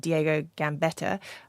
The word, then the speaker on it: Diego Gambetta: called Diego Gambetta that's how you pronounce his name and he says Trust has